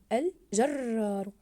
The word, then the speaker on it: الجرار: كلمه الفلاح احسنتم الجرار الجرار احسنتم ضاعفنا حرف الراء في كلمه الجرار ليقلب ليقلب ممتاز ضاعفنا